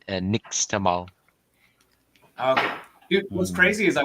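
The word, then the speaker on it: nixtamal: taught me about that stuff it's yeah it's pronounced next all okay what's crazy is I went to this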